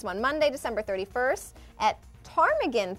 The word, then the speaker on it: Ptarmigan: Monday, December 31st at Ptarmigan Pub with the Silent P is transformed for After Dark concert sponsored by Bud Light.